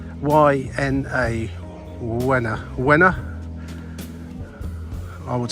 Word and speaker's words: Łyna: It's the L with the little thing on it, which is pronounced a bit like a W. Y-N-A, Łyna.